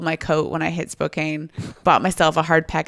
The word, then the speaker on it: Spokane: I wonder if he actually went to Spokane. Maybe. Spokane. I always say Spokane. Spokane. Yeah. It looks well, he might have said Spokane because it rhymes with cocaine.